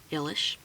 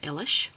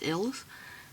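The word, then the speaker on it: Illes: 5,000 spells by judica ilish I know a lot of people pronounce her last name as ills or illis but she's uh polish and is how you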